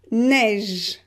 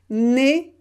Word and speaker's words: neige: Neige, neige. You can hear that the last sound is j. It is not e, it's j. So neige, we pronounce it e, open, neige.